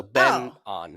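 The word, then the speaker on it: An Byeong-hun: benan he pronoun he he pronounces his first name Ben just like Benjamin so Ben on oh okay on got it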